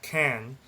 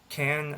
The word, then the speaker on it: Cannes: That's when he left the academy at Cannes. So you may know Cannes, I believe is how you say it, as the French Film Festival.